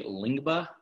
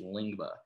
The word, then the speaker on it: Lyngbya: But it's actually Lyngbya. It's I believe that's how you pronounce it.